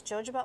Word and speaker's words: jojoba: can use jojoba oil.